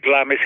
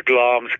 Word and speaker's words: Glamis: is that what they're saying everybody calls it Glamis castle but it's actually the original pronunciation is gloms castle I'll pronounce it Glamis forever the same